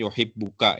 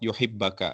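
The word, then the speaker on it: يُحِبَّكَ: Pada bacanya yuhibuka ya. Wallahualam mungkin ya saya rasa lebih tepat. Yuhibbaka ya. Ya. Ini baris fathah bnya yuhibbaka.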